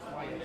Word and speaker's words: Wyatt: Jackie Wyatt, not Watt. Wyatt.